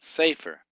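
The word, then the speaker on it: ספר: You got safer. Safer. Accent is put on the first syllable.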